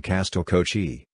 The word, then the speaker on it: Castell Coch: Costel welsh pronunciation Castille kochi welsh for red castle as a 19th century